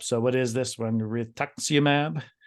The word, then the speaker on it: rituximab: All right, Trace, I always butcher these names up. So what is this one? Rituximab? Rituximab.